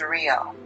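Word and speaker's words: Riell: The pronunciation is real.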